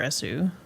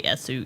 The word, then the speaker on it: Esu: can call me just or Essu. People just kind of do both. It's actually from which is my name in Japanese. So you don't really pronounce the U.